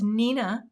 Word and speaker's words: Neenah: classic Crest solar white I've been saying it wrong for years and just want you to know it's Nina it's the mill classic